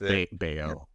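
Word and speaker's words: Baio: back in the 80s Scott bio or beo however pronounced beo yeah beo yeah was like huge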